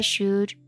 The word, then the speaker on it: should: Recuerden que el modo should, igual que could, no se pronuncia la L. Should, could, should, could.